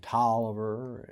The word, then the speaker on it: Taliaferro: And I think we had Washington County and Wilkes County and Glasscock and Tolliver and Oglethorpe.